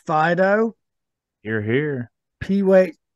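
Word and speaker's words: Phydoux: Troy you're here I think this is pronounced Fido you're here p-weight p h y d o u x when you consider that Fido yes absolutely and Maynard W you're here thank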